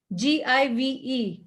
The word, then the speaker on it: give: pronounce g-i-v-e gives give again it is g it is the hard g even though there is i after g it's not the soft g it's hard g so that's an exception